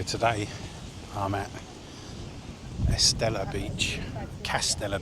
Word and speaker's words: Kastella: Castella Beach. K A S T E L A. Sounds like a beer, doesn't it?